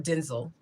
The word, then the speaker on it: Denzel: Denzel Washington, The Fallen, or Denzel. That's what he said his name is pronounced.